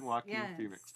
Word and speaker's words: Joaquin Phoenix: You said it right, starring Joaquin Phoenix.